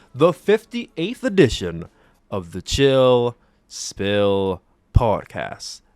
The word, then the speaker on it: Spill: All right here on this, the 58th edition of the Chill Spill Podcast. The S is silent, by the way.